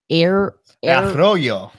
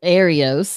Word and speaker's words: Arroyo: you know about the Arroyo. There you go. I was going to say Arios, and that's so messed up, but that gene.